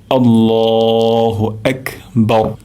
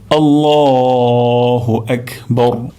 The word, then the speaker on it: আল্লাহু আকবার: তাহলে এখানে আমরা র উচ্চারণ করব মোটা করে, অর্থাৎ জিহ্বার আগা আমরা উপরের তালুতে লাগবো, তাহলে রটি মোটা হয়ে যাবে।